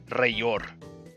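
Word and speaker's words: Rellor: In Spanish, two L's is pronounced as the Y. So, like, our word for flame is llama. It's L-L-A-M-A. So this would be Rayor.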